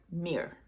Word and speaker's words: Myr: in different languages so that m y r is actually pronounced and if i'm getting it right mir i'm probably not doing it properly but it sounds similar to the word mirror here in english so that's what the